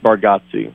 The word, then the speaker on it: Bargatze: Is it Bargatze or Bargatze? Was I hearing things wrong? Did they introduce you? No, most say it Bargatze.